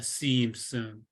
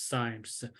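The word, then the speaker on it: cymes: antioxidants and so so it's c-y-m-e-s and and I call them uh seems but other people pronounce it as signs but anyway so if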